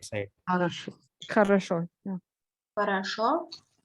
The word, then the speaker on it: хорошо: Хорошо. Хорошо. Yeah. Хорошо. Harasho.